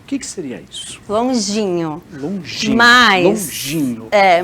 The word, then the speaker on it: Longinho: Carol, agora conta um pouquinho pra gente sobre a Turma do Longuinho. O que seria isso? Longinho. Longinho. Mas, Longinho. Mas a gente tem longinho, longuinho, várias pronúncias.